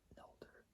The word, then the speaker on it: nolder: to a linear rear nolder, like it's spelled NOLDER, which is like a